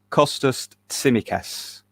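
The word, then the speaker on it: Kostas Tsimikas: him can you first of all can you pronounce his name properly um i can i can certainly give it a go uh costus cimicass well done very well well done um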